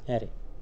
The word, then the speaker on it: arr: ठीक है, इसका नाम है arr, एरे, इसे एरे ही हम लोग प्रोनाउंस करेंगे।